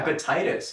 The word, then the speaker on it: Epictetus: Is that how you Epictetus, yeah. Epictetus. Yeah. I've been pronouncing it wrong the whole time.